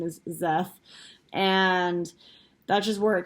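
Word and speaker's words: Szeth: named zeth or s my brain is always pronounced it's so zeff because it's an s and then a z but apparently the official pronunciation is zeth and that's just where it kicks off and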